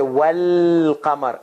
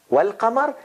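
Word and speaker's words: والقمر: then if you connect if you connect were with lam if you if you pronounce then you have to connect wow with lam and you say well kamar and alif goes away there is no no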